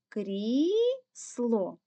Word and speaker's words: крісло: крісло також буде 2 крісло визначаємо який із цих складів наголошений гукаємо це слово крісло наголос падає на звук І звук і стоїть у першому складі значить перший склад є